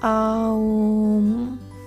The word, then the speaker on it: Om: It's pronounced Aum. Aum.